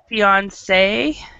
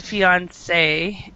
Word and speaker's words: fiancé: There's really no difference in pronunciation, fiancé and fiancé. The difference is in the spelling. There's one more E for the bride, which is the woman. It's French word. Yeah, it's a French, borrowed from French, and sometimes people